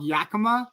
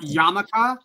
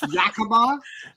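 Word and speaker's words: Yakima: town that he's from it's called Yakama not yamaka not yakamia it's Yakama pronounced that but not beon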